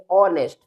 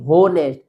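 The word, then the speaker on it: honest: इसे हम रीड करेंगे ऑनेस्ट। क्या रीड करेंगे इसको? ऑनेस्ट ना कि होनेस्ट। हो नहीं पढ़ेंगे बल्कि हम इसको रीड करेंगे यहां ओ से। क्योंकि एच लेटर साइलेंट है तो ऑनेस्ट इसी तरह से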